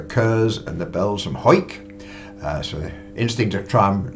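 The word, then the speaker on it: Hawick: and the Bells from hike so instinct to try and learn to pronounce these places eh h-e-w-i-c-k if you've not seen that before you probably wouldn't say hike so there's Thomas White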